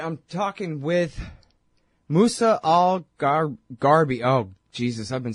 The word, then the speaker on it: Gharbi: mornings all right i'm talking with musa all garby oh jesus i've been saying your name wrong this whole time sorry you got it